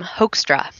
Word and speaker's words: Hoekstra: pronounce your last name the way you can pronounce it is um hoextra hoaxer but it's technically something else right well if you want to you know pronounce it with the correct dutch accent yeah but it would be hook or something like that so the guy who